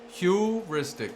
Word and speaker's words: heuristic: This service acts as the software backbone that connects different candidate sources, scoring functions, heuristics, Am I saying it right? Wrong? Heuristic. Yeah, I was saying it wrong.